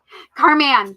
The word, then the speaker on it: Carman: Carman, sorry. I've been saying her name wrong, and so I'm trying to say it properly.